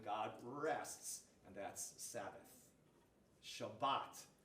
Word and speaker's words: Shabbat: Shabbat is how they say it in Hebrew.